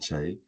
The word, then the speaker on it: Kyei: my name is Chay um originally Halen from Ghana born in the UK and the CH is ky eii but phonetically it's ch c h a y so that's hence the